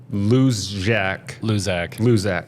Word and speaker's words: Luczak: And Spencer Luczak. Yeah. No, you're all good. The C is silent.